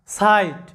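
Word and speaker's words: sight: মনে রাখবে কোন শব্দে আই এর পরে যদি জি এইচ থাকে তাহলে আই এর উচ্চারণটা হবে আই এরকম মানে অ্যালফাবেট নেম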